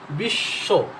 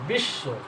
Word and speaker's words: বিশ্ব: বশ্য এটা কি আসতেছে বিশ্ব এটা হচ্ছে যে বর্ণের সাথে ব আছে সেই সব বর্ণটা দুইবার উচ্চারণ হচ্ছে বিশ্ব অস অস এই দুট